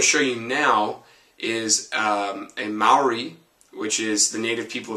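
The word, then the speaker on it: Māori: It's actually pronounced Maori. It's very phonetic, like you would pronounce Hawaiian or Japanese.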